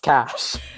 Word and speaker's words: cache: and now i know it's pronounced cash that's the real moral of this here is that it's pronounced cash that's the only thing